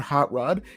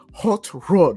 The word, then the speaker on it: Hot Rod: Like, as well as like the second that he pronounced his name, he's like, "No, it's not Hot Rod, it's Hot Rod."